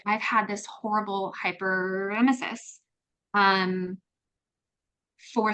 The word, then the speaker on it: hyperemesis: So Joanne's hyperemesis, that's how you say it.